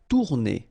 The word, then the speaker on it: tourner: Tourner. Same thing here, if you listen carefully, tourner. R is not that strong.